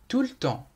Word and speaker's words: tout le temps: Tout le temps تعني كل الوقت، وعند الكلام بسرعة يمكن أن لا نقرأ الحرف E فنقول tout le temps.